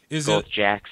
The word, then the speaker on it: Jacques: well it's a nickname my real name is Jacques there's a little hard to spell pronounced jack is it a GAC